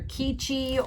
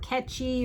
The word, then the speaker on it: Quechee: It's either Keechee or Ketchy or Quetchy. It's Quechee. And we weren't sure how to pronounce it.